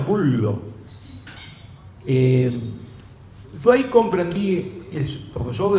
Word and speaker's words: Gullo: Y en realidad Bullo es un apellido italiano, en realidad se pronuncia en italiano Bullo.